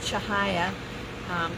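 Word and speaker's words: Cahaya: this is tahaya and her name actually is pronounced in Malaysia Malay shahaya it's c-a-h-a-y-a but it means radiant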